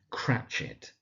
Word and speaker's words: Cratchit: We then got Bob Cratchit, and it's the surname Cratchit.